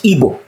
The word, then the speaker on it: Igbo: It's just like the Igbo people, which is properly pronounced in English, Igbo.